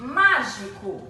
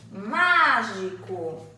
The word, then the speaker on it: mágico: a câmara acento circunflexo é mágico é a sílaba tônica é má e possui som aberto mágico temos patê de som